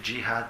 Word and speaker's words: djihad: Alors vous pouvez prononcer djihad si ça vous fait plaisir. Ça vient des Français, il paraît, cette prononciation. Parce qu'il n'y a pas de dje, c'est G. Enfin, en Maghreb, aussi on dit dji.